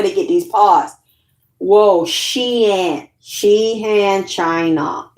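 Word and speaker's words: Xi'an: get these parts whoa sheen she spelled x i a n the x is pronounced as a s.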